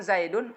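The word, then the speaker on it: زيدٌ: Nah, penulisan zaidun apakah ada nunnya? Hanya sampai dal kan? Zai ya dal. Tapi ketika dibaca zaidun, di situ ada nun sukun yang diucapkan di akhir.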